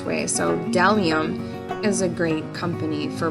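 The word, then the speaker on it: Bdellium: special effects brushes it's deliam so if you're looking that up it actually is b d e l l i u m so it's pronounced dellium but there's a b in front of it um not to throw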